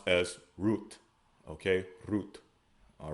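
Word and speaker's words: רוּת: Next we have Ruth, which we pronounce as Rawath. They pronounce as Ruth.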